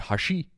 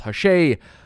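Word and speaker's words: Hash'ey: Another side note, apologies that I call it Hashi. Never in my wildest dreams did I think it was actually going to be pronounced Hashay, but here we are.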